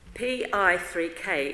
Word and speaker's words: PI3K: Daniel Adrian William Andrew Irvin pi3k is an acronym each letter pronounced separately and it signals the protein whose mouth mouth malfunction often leads to cat cancer mr.